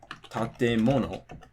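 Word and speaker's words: 建物: For example, the word tatemono, right? So this is 4 syllables, it's nakadaka, but it can be pronounced with the drop after the te or after the mo.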